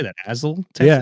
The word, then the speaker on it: Azle: Azle, Texas? Yeah, Azle.